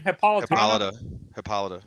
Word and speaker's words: Hippolyta: It seems like in that show they're gonna use Hippolyta set up how do you pronounce her mother's name? Hippolyta.